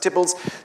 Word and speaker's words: Theobalds: Visiting Lord Burleigh at Tibbalds, which you see there on the map, spelt Theobalds, but pronounced Tibbalds, the Queen complained that